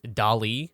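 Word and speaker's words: DALL-E: or whatever called um dolly and that is dolly said like salvador dali but it is spelled like wall-e uh the robot um which is which is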